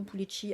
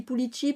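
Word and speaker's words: Pulixi: Alors du coup, je dis Pulici parce que Je le prononce comme le X basque, en fait, et parce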